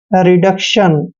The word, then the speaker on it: reduction: दोस्तों RE को हम री पढ़ते हैं, ऐसे री, और DU का उच्चारण डे करेंगे, और C को हमने आधा कै पढ़ना है, और TION का उच्चारण शन करते हैं।